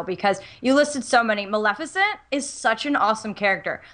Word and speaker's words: Maleficent: Maleficent? Maleficent. Maleficent. I always mispronounce Maleficent's name.